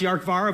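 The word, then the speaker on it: Dearcmhara: Doesn't look like it's pronounced Yarkvara, but it's a Gallic name.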